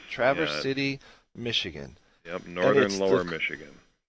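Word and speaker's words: Traverse City: that you live in how do you pronounce it is it Traverse TR City yes Travers City Michigan yep Northern lower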